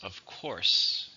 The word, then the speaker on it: of course: As you see here, the stress is on course. Of course.